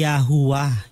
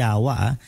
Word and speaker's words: Yahuah: na mga letters so ang tamang bigkas po ay yahuah ywa no yahuah hindi ywa yahu then sa bugtong